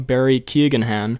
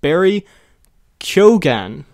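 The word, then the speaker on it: Barry Keoghan: who we keep calling barry keagan han he says i'm almost certain the new joker's name is pronounced barry kyogan k-o k-o k-y-o dash g-h-a-n gone barry kyogan anyway in other news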